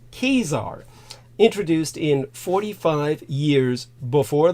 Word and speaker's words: Caesar: uh the Julian calendar which Julius Caesar uh correctly pronounced kesar introduced in 45 years